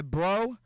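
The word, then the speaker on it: Breaux: the other cornero bro b r e a ux bro oh okay I was I thought it was like bro like what's up bro I mean they pronounce it bro I don't know how they got bro out of Brocks a CO name it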